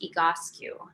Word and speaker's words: Egoscue: So EGO, EGO, and then SCUE, and it's pronounced EGOSCU.